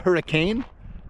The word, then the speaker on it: Hurricane: If you're not from Utah and you're watching this, it's spelled hurricane, but it's pronounced hurricane.